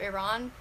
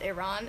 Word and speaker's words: Iran: like this / next the correct pronunciation of Iran is Iran and not Iran and I was talking